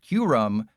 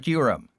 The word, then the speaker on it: Kyurem: I'm forcing them to copy the attack of Kyurem, waste a Kyurem, or put 3 energy on a Slowking.